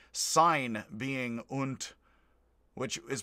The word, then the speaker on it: und: american like sign being unt which is pronounced it looks like und but it's pronounced unt i think there's different